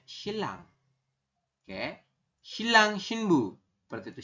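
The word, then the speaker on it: 신랑: Tulisannya shinrang, tapi kita bacanya shilang.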